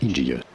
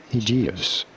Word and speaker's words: Aegeus: I think I prefer the first one, Aegeus. Aegeus.